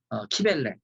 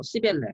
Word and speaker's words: 키벨레: 여기 부르기와의 모신, 어머니신, 키벨레, 키벨레를 뭐 시벨레 이렇게 발음하는 분들이 있는데 키벨레로 발음을 하는 게 좋습니다.